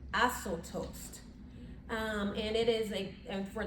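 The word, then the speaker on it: ἀσώτως: And so this idea of prodigal, meaning according to the Greek, it is pronounced asotos.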